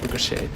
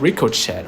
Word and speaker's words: ricochet: I learned how to pronounce like ricochet. I thought it was like ricocheted or something like that, like rico. But it was actually pronounced as ricochet, which is like I don't know.